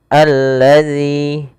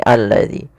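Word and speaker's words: الذي: lafal Al di sini ada alif lam yaitu alif lam syamsiah yang mana alif lam ini alif lam yang kita tulis Al bertemu dengan huruf lam selanjutnya maka di sini langsung dijadikan seperti ini alladzi maka ini kita namakan dengan alif lam syamsiyah Alif yang ditulis tapi tidak dibaca Kemudian pada lafal zzi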